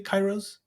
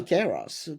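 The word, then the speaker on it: kairos: say it normally it's it's a Greek wordan this is a Greek word so you say Kos Kos I'm I'm very impressed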